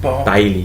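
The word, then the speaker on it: Bailly: Barley, whatever his name. How do you pronounce his name? Bailey.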